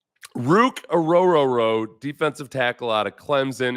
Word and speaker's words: Orhorhoro: like I told them it's like oh r r your boat so just remember that the hes are silent and yeah just remember